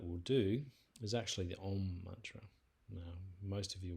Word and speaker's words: Om: And I have mentioned this before, but Om is typically, especially if we're just doing it as a single mantra, is often pronounced Om, A-U-M.